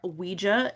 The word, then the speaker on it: Ouija: Also, and I said this before, Ouija is also a correct pronunciation. I went to the Ouija Museum in Salem and I asked the curator, how do you pronounce this fucking word? And she's like, either way is totally fine.